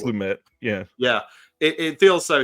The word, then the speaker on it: Lumet: Like, it's very I always say Lumet because I always think it's LeMay, but I think it's not pronounced that way. I think it's Lumet.